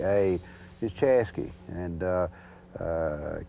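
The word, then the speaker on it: Chaska: of the Corbin division these are pronunciations kind of indigenous to the area but chasa which is spelled c h a s k a is chasy and uh uh k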